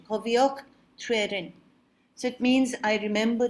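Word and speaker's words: Cofiwch Dryweryn: So this is called Cofioch Trwerin. That's the pronunciation. Cofioch Trwerin.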